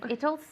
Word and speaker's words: it'll: it's no tomorrow if it'll snow tomorrow okay good so what's the trick remember italy take out the y if fatal if it'll